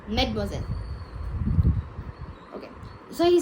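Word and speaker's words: mademoiselle: Medosel addressed for the French unmarried woman. Okay. Like in English we say miss, right? Like that in French it's known as Medmoiselle.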